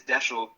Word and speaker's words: Desho: My first name is Desho, and the way that I get people to understand it or say or pronounce it correctly is saying like special.